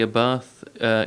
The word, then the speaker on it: Abarth: the chance to drive the Toyota Corolla Hybrid, the Toyota Tacoma TRD, and also the Abarth Cabriolet, 500 We Cabriolet.